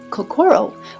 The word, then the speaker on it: Kokoro: We have lovingly Americanized the pronunciation of Kokoro with the emphasis of core in the center, because the heart is in the center of everything we do.